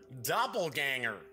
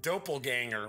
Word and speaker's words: doppelganger: I've got the dope on double ganger almost watered pronounce it doppelganger right had the dope on doppelganger but it's doppelganger I'm telling you something